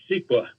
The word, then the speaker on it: CEQA: California Environmental Quality act most people uh pronounce it siqua um and uh ceqa